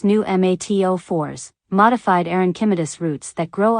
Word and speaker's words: pneumatophores: cypress automatically produce knees technically called pneumatophores pronounced new mat04s modified aronchimedus roots that grow upward into the air summary 1.